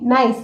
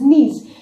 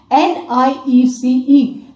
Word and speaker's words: niece: Other day in the online classes I heard somebody saying nice. It is not nice, it is niece. N-I-E-C-E. बेटा नाइस की spelling तो NIC होती है. The spelling of gneiss is NIECE.